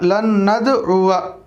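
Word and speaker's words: لَنْ نَدْعُوَا: आगे लन नदउवा लिखा हुआ है, आइन पेशु वाव अलिफ ज़बर वा, लेकिन वाव के बाद का अलिफ साइलेंट होगा, लन नदउवा।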